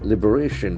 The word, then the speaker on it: liberation: Liberation. The accent force of the third syllable.